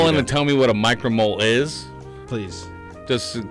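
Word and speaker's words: µmol: But U-mole is definitely not the right pronunciation, right? Like, No. The sign is micro. right? Micromole. But when everyone's reading it, it always comes out U-mole.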